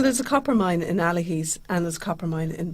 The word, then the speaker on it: Allihies: i was trying i was here trying to pronounce myself it's the allahis to bon mahan miners trail that's correct so